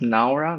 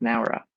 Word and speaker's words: Nara: to the no oh it's pronounced NAA not Nara did you know that